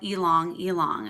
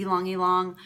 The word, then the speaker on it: Ylang Ylang: one of my favorites, and it is called Ylang Ylang, and we spell that Y-L-A-N-G and then Y-L-A-N-G again.